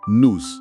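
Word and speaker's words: nous: Nus, pronunciado nos, certo?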